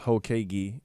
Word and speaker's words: Hokage: The name is pronounced Hokage, and it's an anime thing.